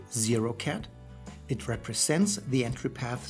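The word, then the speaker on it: ket: The symbol is pronounced 0-cat.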